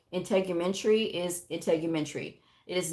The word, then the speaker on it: integumentary: anatomy, medical terminology and all those things, you mispronounce words like basic medical terms, like integumentary is integumentary. It is not integumentary.